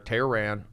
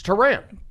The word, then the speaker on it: Tehran: Well, I appreciate that, and that voice right there, Tehran. I said it wrong. Now, how do you want me to say? Go ahead. As long as it's not Tehran, I'm happy. It's Tehran. Tehran.